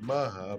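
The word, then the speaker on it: Macha: It's called, I think its name is Maha, but it's like M-A-C-H-A.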